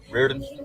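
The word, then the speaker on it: Reardon: out of Mississippi Mississippi what's your last name Reen it's what Reen Reen can you spell that for me please r e a r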